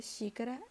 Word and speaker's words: xícara: Já na palavra xícara é azul, porque o X tem som de CH.